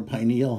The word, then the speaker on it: pineal: Okay, let's talk about, and by the way, it can be pronounced pineal or pineal, and I might pronounce it either way. They're both correct.